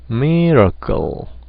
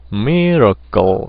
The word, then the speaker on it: miracle: 근데 라 쪽에는 액센트가 안 왔으니까 당연히 아를 피하면서 중성모음으로 갈아타는 거죠. 에너지를 최소화하기 위해서. 그래서 miracle, miracle 이렇게 되겠죠.